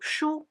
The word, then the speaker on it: 殳: Another part, represents a hand holding something like a small stick or mallet ("殳," pronounced shū).